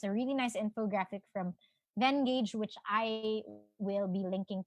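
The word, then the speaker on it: Venngage: is this one from Vengage or Vengage. I think it's pronounced Vengage.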